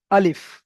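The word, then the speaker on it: ألف: তো এই চিহ্নটা দেওয়ার উদ্দেশ্য হলো, এখান থেকে এই চিহ্নটা দেখে বুঝতে হবে আমাকে যে এই অক্ষরটা একটুও টান হবে না। তো এখানে কেমন ভাবে উচ্চারণ করতে হবে? আলিফ, আলিফ।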